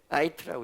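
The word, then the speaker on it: עיט: 그러면 이걸 뭐라고 읽냐면요, 자, 한번 읽어보겠습니다. 아이트라고 읽어요.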